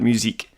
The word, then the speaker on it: Musique: I pronounced it Mystique and not musique.